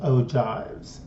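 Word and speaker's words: ogive: histograms polygons histograms and O jives OES that's how it's pronounced all right let's start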